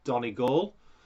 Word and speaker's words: Donegal: it's done a goal by the way donna goals island for those of you who don't know how to pronounce it it's donnie gall um i love ireland